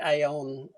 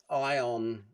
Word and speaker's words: Aion: Would you recommend the AON? Sorry, I've got to learn to say it properly. Ion, it's their fault. They put an A in it, Rosco.